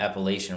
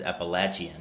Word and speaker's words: Appalachian: And then found out that Appalachian Roasters, it's really, I call it Appalachian Roasters, but the correct pronunciation is Appalachian.